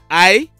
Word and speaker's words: Iyendeh: I've seen persons saying Iyendeh or something like that. His correct name is Iyendeh.